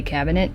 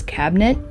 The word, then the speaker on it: cabinet: Kyle makes fun of me the way I say cabinet, because I say it like it has 3 syllables, and he says it like it has 2. He says cabinet, and I say cabinet.